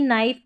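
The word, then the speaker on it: knife: तो यहां पर देखिए नी नाइफ ये जो शुरू का के है स्टार्टिंग का यह साइलेंट है।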